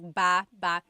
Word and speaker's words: baba: So depending on how you're saying it, it could be baba, chin, baba. Emphasis is on the first syllable. Baba. Then there's baba baba. Emphasis is on the second syllable syllable. That means to go down. Baba, like going down an elevator.